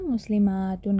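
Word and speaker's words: مسلماتٌ: की साउंड छोटी है लेकिन यहां सातुन है ना ये बड़ा है बड़ी वाली साउंड बन जाएगी ठीक है ये कह रहे हैं कि प्रोनाउंसिएशन में थोड़ा प्लूरल वाला थोड़ा लंबा हो जाएगा है ना मुस्लिमातुन कहेंगे मुस्लिमातुन अच्छा ब्रोकन प्लूरल जो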